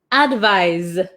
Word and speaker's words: advise: One more time, pronunciation. Advice, advise.